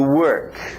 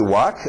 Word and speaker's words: work: O R forte, senão parece walk, andar.